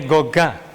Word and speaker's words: Gauguin: Gauguin, bacanya Gauguin.